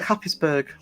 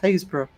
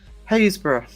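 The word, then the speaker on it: Happisburgh: It looks like Hapisburg.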